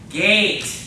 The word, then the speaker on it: geht: The next word is gate. Everybody say it? Gate.